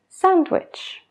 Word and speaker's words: sandwich: Cuando estamos hablando lento, se pronuncia la D. Pero eso cambia cuando hablamos rápido, porque la D es una letra que nos dificulta la pronunciación de la frase. Si te das cuenta, tengo que parar después de la D antes de seguir con el resto de la palabra. Handsome, handsome. Sandwich, sandwich.